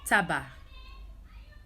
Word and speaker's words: tabac: So the exceptions are nasal vowels and these words: estomac, porc, and tabac. We don't pronounce the C's.